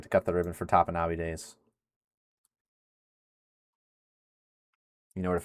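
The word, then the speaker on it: Topinabee: Google pronunciation is different than Michigan's. Oh gosh, here we go. According to Google, the AI overview, mind you. Oh yeah, AI. Top N as in EN, UHB. Top N Ubi.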